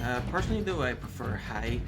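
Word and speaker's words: haigh: personally though I prefer hi which is h a i g h pronounced hi which means hi um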